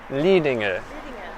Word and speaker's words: Lidingö: Lidingö.